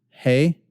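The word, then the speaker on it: ה: So this is a hey, makes an H sound, hey.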